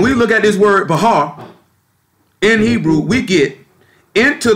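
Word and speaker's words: בחר: The reason why we came there, can we look at, in Hebrew, the word there is Bahar. It's spelled B-A-C-H-A-R.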